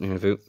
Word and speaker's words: Nunavut: I pronounce it Nunavut.